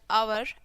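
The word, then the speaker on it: hour: एन is used before the word beginning with silent H एज़ एन आवर N honourable person.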